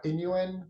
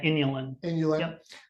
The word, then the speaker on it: inulin: took psyllium husk uh Inuit or why do you pronounce it yeah inulin um and I had yeah